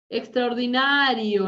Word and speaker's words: extraordinario: Extraordinario, no lleva tilde, gente. Extraordinario no lleva tilde, porque en español es grave terminada en vocal.